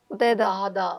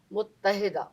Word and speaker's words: متحدہ: یہ وہ لفظ ہے جو عام طور پہ لوگ صحیح نہیں بولتے. کیسے بولتے ہیں لوگ؟ متحدہ. متحدہ ایسے بولے متحدہ. ہاں مطلب اصل اس کا تلفظ ہے متحدہ.